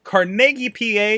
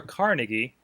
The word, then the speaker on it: Carnegie: way out there in carnegi PA or Carnegie as I've been told it might be pronounced by some other Regional people um if you're heading